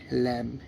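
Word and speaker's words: lamb: ওটাই মেনে চলতে হবে গাইস এল এ এমবি ল্যাম এল এ এমবি ল্যাম মানে বি সাইলেন্স এল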